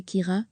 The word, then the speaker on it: Ciara: quelques dégâts derrière elle la prononciation exacte est en fait qu ira à la gaelic les britanniques du metoffice